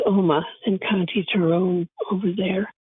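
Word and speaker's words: Omagh: in a town called om in County terone over there and it's spelled om m h e h and the g is silent I call it a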